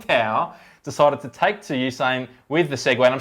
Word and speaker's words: Usain: Yeah, I think most people, it's hard to pronounce his name. It's Usain.